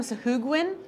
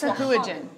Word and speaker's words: Sahuagin: It's become Sahugwin on ours. Sahugwin, That's not okay. that's not how you pronounce it.